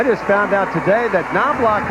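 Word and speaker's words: Knoblauch: found out today that noblock in German is pronounced pblos and it and it stands for garlic can you imagine Larry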